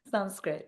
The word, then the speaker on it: Sanskrit: Am I pronouncing that correctly? Sanskrit, yes, Sanskrit.